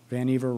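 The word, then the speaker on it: Vannevar: dr van eiver bush van eiver rhymes with achiever or in his case perhaps over achiever an inveterate inventor professor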